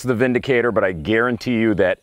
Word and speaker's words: Windicator: decided to call this The Vindicator and I'm assuming that's what they call it because with what little I know of the German language the you pronounce a w like a V and so this is